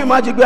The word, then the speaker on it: Majeyogbe: Can you please learn to pronounce? You if you yes. call me Majeyogbe, I will not I'm answer.